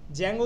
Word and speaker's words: Django: ডি জ্যাঙ্গো ঠিক আছে জ্যাঙ্গো উচ্চারণটা ডি টা উচ্চারণ হয় না ও আচ্ছা জ্যাঙ্গো বানান